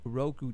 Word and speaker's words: Roku: on R crew R crew how do you pronounce Roku Roku now do you have to purchase something in